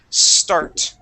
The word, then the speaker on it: start: to the word start here you said s start adding an e at the very beginning the word is start try that start good